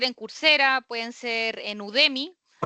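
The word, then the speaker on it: Udemy: Yo les di un par de ejemplos ya, pero puede ser en cursa, pueden ser en Udemi, se escribe así tal cual como suena.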